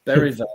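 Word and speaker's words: Bergvall: as his name is beral you don't pronounce the G and bergville it's beral in Swedish I think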